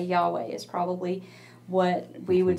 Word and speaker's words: Yahweh: But also, the reason that we think that that name might be pronounced that way is that actually it's the sound we make when we breathe, mm-hmm. right? We would say, Yahweh, right?